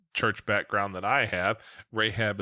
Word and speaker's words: Rahab: background that i have rahab is just spelled like it sounds r-a-h-a-b rahab's heart um